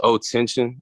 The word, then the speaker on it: Otenxion: you said the old name was, well, how do you pronounce it? It was O Tension, O Oh, T tension.